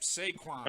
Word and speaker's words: Saquon: probably totally Was it pronouncing me? this wrong, but it's Saquon Barkley. Yep, Saquon.